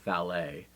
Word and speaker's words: valet: And I pronounce it the French way, as I often do with some English words that we have brought into our tongue from the French.